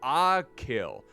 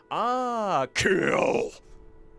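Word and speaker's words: Achill: a bridge to the mainland aill okay it's pronounced aill like aill ah kill maybe I should pronounce it like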